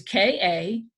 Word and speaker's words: Katahdin: It's different from what the real way to spell Katahdin, so to speak, is K-A-T-A-H-D-I-N. And Henry spelled it K-T-A-A-D-N. Katahdin. That's how it sounds.